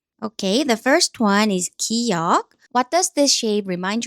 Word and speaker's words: 기역: Okay, the first one is 기역. What does this shape remind you of? Yes, think of a gun. 기역. A gun starts with a g sound, so 기역 makes a sound similar to g.